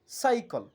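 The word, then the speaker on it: cycle: বা দন্তসর মত বলব যেমন সাইকল অর্থাৎ সি এর পরে এখানে ওয়াই আছে সেজন্য আমরা বলব সাইকল অর্থাৎ সি এর উচ্চারণ এখানে স এর মতই অন্যদিকে আরেকটি শব্দ আমরা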